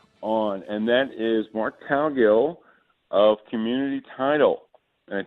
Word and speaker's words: Cowgill: Cowgill. I'll take just about anything I can get. How about that? Somewhere in between and Cowgill is how it's supposed to be pronounced. It was Cowgill, so that's my mistake.